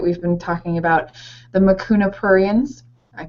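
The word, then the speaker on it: Mucuna pruriens: the supplements that we've been talking about the makuna purans I pronounced it did I pronounce it right absolutely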